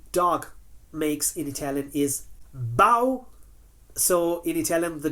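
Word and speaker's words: bau: noise that the dog makes in Italian is bow so in it tellan the dog does not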